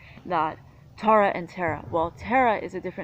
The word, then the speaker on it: Tara: Now if you look at phonetically, T-A-R-A. So if the A's match phonetics, and ta, ra.